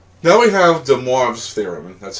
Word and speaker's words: de Moivre: had to look up on Google how to pronounce it right. But it's de Moivre's theorem.